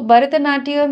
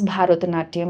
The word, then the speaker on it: Bharatanatyam: সো ভরতনাট্যম যখন তুমি pronounce করছো, don't pronounce ভারতনাট্যম, ইট ইজ নট ভারত, ইট ইজ ভরত, ভরতনাট্যম, ইটস নট ভরত Bharat, not like that.